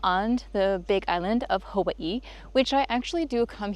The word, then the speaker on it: Hawaii: And I was actually born in Hawaii, or if you pronounce it properly, Hawaii.